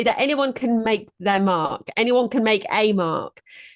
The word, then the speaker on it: Marque: Because some people confuse it with marquee, which has got two E's on the end. But I have had it pronounced marquee.